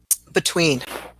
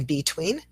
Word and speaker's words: between: Students will very often say between. Most fluent speakers of English say between. And again, a reminder that it's not that you have to say every word with the schwa in it, but if you don't use it at all, it will really affect the rhythm of your speech.